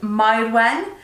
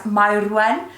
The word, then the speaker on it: Myrwen: Myrwen, and it's like you have to roll the R to get it right. It's Myrwen, and it's a very